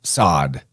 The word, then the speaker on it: Sod: Yeah, Samek Vav Dalet, which transliterates how they say it nowadays is Sod.